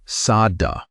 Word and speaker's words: saddha: The Pali word for this kind of confidence is saddha. Say it like saddha.